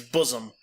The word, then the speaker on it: bosom: Pronouncing bosom correctly. By the way, it's bosom.